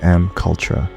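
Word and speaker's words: MKUltra: And there's another one called Project M Cultra. It's spelled M-K-U-L-T-R-A, M Cultra.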